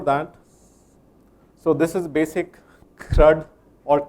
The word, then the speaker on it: CRUD: CRUD or CURD one-on-one, I had a hard time, pronouncing CRUD versus CURD. So this is CURD, I love it. I eat it every day. And that's CRUD, which is create, read, update, delete, the API operations that you do.